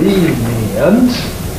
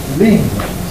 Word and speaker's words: lenient: A slower one, which is lenient, and a faster one, which is lenient. Lenient, three syllables. Lenient, two syllables.